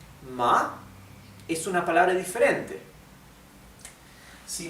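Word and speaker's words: 吗: no cambia es ma esto significa madre o mamá bien y luego tenemos el neutro que no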